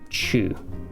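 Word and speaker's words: 中: Chi, but we notice we've got the little u right there, so it's not chi, it's chu.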